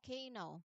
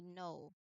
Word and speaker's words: know: There is no K sound here. So, we do not say K know, but we say know.